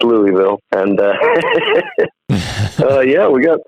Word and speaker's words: Louisville: association in louisville kentucky level i think is how they say it but it's louisville and uh yeah we